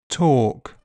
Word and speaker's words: talk: Elf selves health Welsh help bulb bolt sold milk belch bulge kiln film and L is silent in some words calm palm Arm salmon half chalk talk walk folk yoke would could kernel.